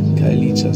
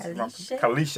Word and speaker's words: Khayelitsha: It's a home to a lot of people, Khayelitsha, so yeah.